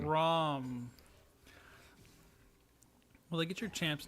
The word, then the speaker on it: Braum: Braun or Braum? I thought it was Braum. Is Willa making me Braum. say the name wrong? See, what did he spell? I think Willa baited me. It is Braum with an M. Willa said it wrong.